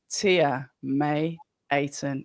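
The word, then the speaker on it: Tia May Ayton: I'm Abs of October Red and I'm joined by debutant Tia May aton. Is that the correct way of pronouncing all the names?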